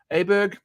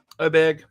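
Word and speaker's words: Åberg: the fact that it starts with an A and you have to say oh and people have been saying it wrong the whole time so anyway he's minus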